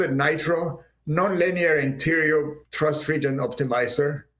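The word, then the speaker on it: KNITRO: It's called Nitro, so let's put a K there, which in English is silent. But of course, for many people in Europe, it's not silent. So they started calling K Nitro and stuff like this.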